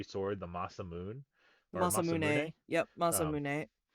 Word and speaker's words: Masamune: Yep, Masamune. They butchered it in the musical, which is why I said it that way.